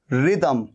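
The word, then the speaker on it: rhythm: तो रिदम में भी देखिए एच आ रहा है, ये एच आ रहा है, लेकिन एच दोनों जगह पर साइलेंट है। रिदम, RY, रिदम।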